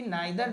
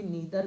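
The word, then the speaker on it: neither: जब आपने यहां पे नाइ दर लिखा या इसका उच्चारण नीदर भी होता है दोनों उच्चारण होता है ध्यान रखिएगा नादर या नीदर और आपने यहां पे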